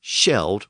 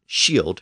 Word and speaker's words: shield: two words are related the original word was sheld with a short e sound it meant Shield just like today and over time that l d at the end of sheld pulled that e and made it long today the standard pronunciation is shield with a long vow sound now when warriors were